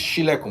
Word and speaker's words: Silekun: It's Queen underscore Silekun spelled S-I-L, not it's Shilekun, but it's spelled S-I-L.